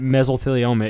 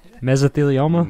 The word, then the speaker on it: mesothelioma: clarify this I am a firm believer that mesothelioma is a real thing say that again mesothelioma mesothelioma that's how you say it right yeah